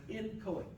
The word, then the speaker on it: inchoate: Okay, no matter how the pronunciations you're gonna hear, I'm just gonna call it as inchoate.